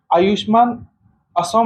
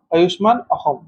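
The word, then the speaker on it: Ayushman Asom: So आयुष्मान असम नहीं बोलेंगे इसको, आयुष्मान अहम। ठीक है, अहम प्रोनाउंस होता है, एस वहां पे ह होता है।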